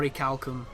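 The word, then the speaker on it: orichalcum: and 20% chance of ory halcom or oricalcum as it should be pronounced uh I don't know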